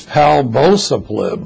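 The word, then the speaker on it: palbociclib: exciting and newer drug is a mouthful to pronounce its pal both of Lib PA l vo CI CL IB now this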